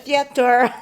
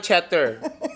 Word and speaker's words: theater: A theater. Ha? Parang ng theater. Parang cheddar. Cheddar. Theater. Wrong pronunciation.